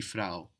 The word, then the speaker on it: Frau: Die Frau. It ends in a W.